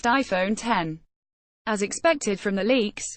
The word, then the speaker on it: iPhone X: Apple's new flagship phone is the iPhone X, pronounced iPhone 10.